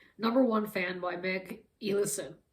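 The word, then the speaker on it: Elison: And so the next book that I read was Number One Fan by Meg Ellison. I would pronounce it Ellison, but I think it's pronounced Ellison.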